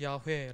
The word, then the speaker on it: 야훼: 리어가 말 9 투 야훼 라는 말입니다 우린 여호와라 그렇게 발음을 하지만 히브리어 이 자음을 다 덩 거는 제도 더 정확한 바라면 야외 거든요 새 말투 야외 히브리어